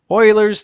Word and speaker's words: Euler: where three faces intersect euler's theorem that is pronounced euler and he came up